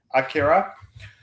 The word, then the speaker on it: Akira: the correct pronunciation. Sorry, that's thumbs up. Yeah, yeah, yeah. Thank you. Dude, Yeah, that's the Japanese way of pronouncing it.